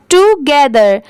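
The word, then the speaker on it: together: GE, इसे क्या पढ़ेंगे, गे, और THER, इसे थर नहीं पढ़ेंगे, यहाँ पर इसकी साउंड क्या आ रही है, दर की, ठीक है, दर की, THER, दर।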